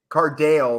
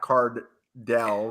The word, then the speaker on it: Cardale: Wait, so you're telling me Cardale, not Cardell, but yeah, who gives a shit, dude?